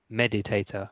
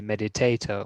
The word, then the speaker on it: meditator: So usually when you say meditator, the stress is at the beginning. So meditator rather than and so you don't say meditator or meditator.